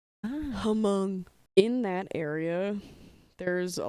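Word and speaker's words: Hmong: I think among people the H is silent Hong in that area there's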